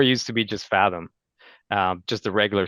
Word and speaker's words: Faethom: That's what a lot of people call us Fathom. I'm like, you know what? As long Yeah, as we're the only Fathom. Well, ending it with an E, it's still pronounced the same.